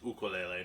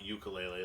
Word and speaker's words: ukulele: so this is a ukulele now um the pronunciation that most people prefer is ukulele not ukulele like is uh probably more popular in media